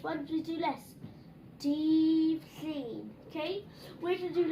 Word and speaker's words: Dydd Llun: So then, hyn, yr un goch yn dydd Llun. Monday. Dydd Llun. Okay? Now then, that's how to spell it, okay?